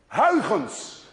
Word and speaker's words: Huygens: You see, this sound, U-Y, is pronounced in Dutch as ui. Thus, none of you can say ui unless you're Dutch.